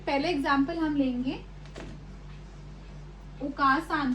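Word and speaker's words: お母さん: सो इसमें जो आ है वो एक्सटेंड हो रहा है, उसकी लॉन्ग साउंड है, तो हम इसको प्रोनाउंस भी ऐसे करेंगे। इसको ऐसे प्रोनाउंस करना ओकासान बहुत इंपॉर्टेंट है, क्योंकि अगर आप इसको नॉर्मली ओकासान की तरह प्रोनाउंस करेंगे तो इसका जो मीनिंग है वो बिल्कुल चेंज हो जाएगा।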